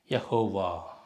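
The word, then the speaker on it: יהוה: இது இந்த ஹே என்ற சொல் வார்த்தையின் கடைசியில் வந்தால் உச்சரிக்கப்பட மாட்டாது. கடைசியில் வந்து உச்சரிக்க மாட்டாங்க. ஆனால் இருக்கும் அந்த வார்த்தை, சைலண்ட் லெட்டர். அது மாதிரி யஹோவா.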